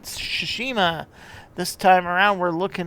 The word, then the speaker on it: Tsushima: on to the next one next up is shishima yeah I said it right shushima this time around we're looking at rjdt the